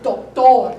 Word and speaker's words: doctor: Doctor, doctor. The accent is in a different place, right?